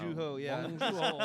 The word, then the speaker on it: Bong Joon-ho: Bong Joon Ho, which is Bong. I really Bong Bong Joon-ho. Joon Ho, yeah. Bong Joon-ho. It's Bong- it's almost like Juno, the way it's Yeah.